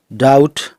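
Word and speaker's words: debt: जैसे डैट इसको डेब्ट नहीं बोलते, डाउट, शटल।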